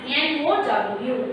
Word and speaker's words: know: Here also the K is silent. N-O-W, K-N-O-W, no.